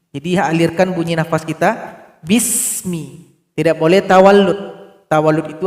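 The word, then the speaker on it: بسم: yang pertama di sini ada huruf Sin jangan dipantulkan B bis enggak boleh dibaca bis harusnya dibaca Bismi jadi alirkan bunyi nafas kita Bismi tidak boleh tawallud tawallud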